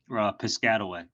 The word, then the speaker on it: Piscataway: start ranking for the word photo booth rental pissed cutaway am I pronouncing it right yeah Piscataway Piscataway uh or even type in digital photo